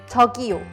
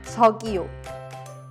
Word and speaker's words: 저기요: So let's learn one of the more common ways, which is 저기요. You'd use this excuse me to get someone's attention. Let's first practice the pronunciation of 저기요. 저기요. 저기요.